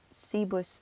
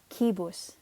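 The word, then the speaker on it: cibus: Romano please note that even though it begins with a C we pronounced it like a K sound almost remember season Latin are pronounced like K's okay it's not see bus CB its key boss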